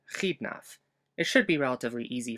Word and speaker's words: Xidnaf: The letter X will be representing the cha sound, just like in my YouTube pseudonym, Khidnaf.